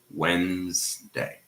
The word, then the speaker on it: Wednesday: So in Wednesday, the D disappears. The D is silent. The first D, of course, and the D, the sound is in the middle. So we just pronounce Wednesday, 2 syllables, right?